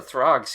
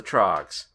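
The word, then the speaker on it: The Troggs: uh isn't that the trogs it said the Throgs here yeah but I mean isn't the band supposed to be isn't it supposed to be the Throgs I'm not saying you said it wrong it is the trogs okay and also yeah that's great weird play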